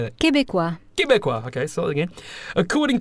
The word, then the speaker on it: Québécois: Am I pronouncing that right? How do I say that? Québécois.